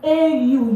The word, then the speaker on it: au: I came about the AU here. So AU is a combination of this A and this lo, which gives us O.